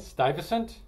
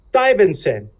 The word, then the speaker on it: Stuyvesant: Stuyvesant. Stuyvesant.